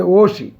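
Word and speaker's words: 옷이: ঐতিহ্যবাহী, ওত মানে কাপড়, ই থাকার কারণে উচ্চারণ হচ্ছে ওশি। আসলে শব্দটা ছিল ওত মানে কাপড়, এই ইর কোনো দাম নেই, কিন্তু উচ্চারণ করার জন্য বলতে হবে ওশি, এই সব উল্টে যাবে।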